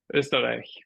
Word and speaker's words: Österreich: Österreich.